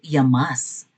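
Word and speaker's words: Llamas: Bakit nilait ni Robin Padelia itong si Ronald Yamas? Yamas ang pronunciation. Yamas. Pwede rin naman Yamas yata. Double L eh ' ba.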